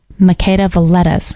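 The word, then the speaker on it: Makeda Voletta: t t a s so how do you say it make the lettuce okay she speaks about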